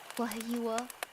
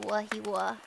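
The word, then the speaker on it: Wahiawā: it's it's actually like if you wanted to say it correctly it' be WWA but you know you can just call it wahiwa anyways so there's this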